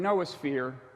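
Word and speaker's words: noosphere: of brains um and he coined this term Noah feere to refer to the thinking envelope of the work of of the earth that's uh the first syllable comes from the Greek word for mind and he contrasted that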